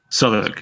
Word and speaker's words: Southwark: Southwark? Southwark, yeah.